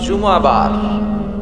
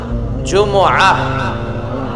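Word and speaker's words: جمعة: সবাই বলেন সূরাতুল জুমহ অনেকে বলে ফেলে জুমা জুমা আসলে আরবিতে শুদ্ধ উচ্চারণটা হচ্ছে জুমুহ সূরাতুল জুমু এই সূরাতে দুইটা রুকু আছে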